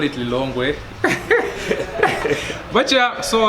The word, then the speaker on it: Lilongwe: I live in the city of Lilongwe. Others pronounce it Lilongwe.